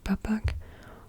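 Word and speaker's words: Bapak: or P or like you don't really pronounce the k at the end papak or um P it's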